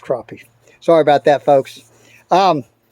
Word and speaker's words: crappie: south carolina now and they pronounce it just a little bit different i don't go after crappy i catch crappie sorry about that folks